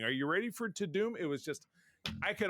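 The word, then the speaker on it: Tudum: I'm like, oh, we missed I called it To Dumb, but when I started to watch it, it's probably didn't want people to calling it dumb. It's pronounced To Doom, so it was Netflix To Doom event.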